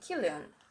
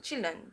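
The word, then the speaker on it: Chilion: So his family contained or had his family had um his wife Naomi his two sons Malon and Killian or Malon and Chillan depends how you want to pronounce it.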